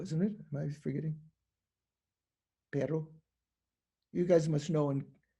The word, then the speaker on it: perro: Perro. You guys must know in New Mexico. Pero. Perro. Okay, I get the right pronunciation.